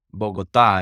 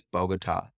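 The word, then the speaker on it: Bogotá: Well, Bogota is how they pronounce it there. I guess Bogota to us gringos.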